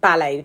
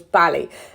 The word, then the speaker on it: Bally: I mean, people would pronounce them ballet, but it was Bally.